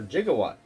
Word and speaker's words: Gigawatt: Gigawatt, or Gigawatt. You can say it like Doc Brown.